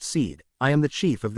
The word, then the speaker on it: Sid: "I am Sid pronounced seed.